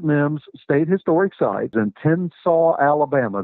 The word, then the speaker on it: Tensaw: state historic sites in tennsaw alabama that's spelled t-e-n-s-a-w just like it sounds it's just north of